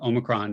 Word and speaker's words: omicron: and not greek it is uh even its pronunciation i didn't know and omicron is how most people say it now and